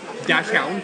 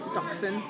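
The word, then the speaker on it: dachshund: with Chihuahuas doxies um dashound dashound dashound dashound uh uh it's inside joke there dashound that's not how you say it Doxon that's how you say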